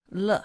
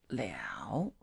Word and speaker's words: 了: Le has two pronunciation. This word, should I say, two pronunciation is le and it's liao.